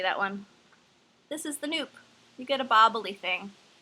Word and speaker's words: nupp: you've never done a noop it's about nupp and yes it is pronounced noop like soup and i haven't touched